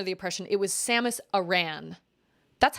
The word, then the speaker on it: Aran: And I feel like my brother said her name was pronounced Aran, Samus Aran, which sounds better to me, but they pronounced it like Aaron.